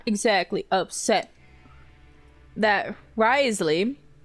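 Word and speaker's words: Wriothesley: Now, I'm not exactly upset that Risley, this is how I've learned, I've been saying his name wrong, as well as spelling it wrong, generally.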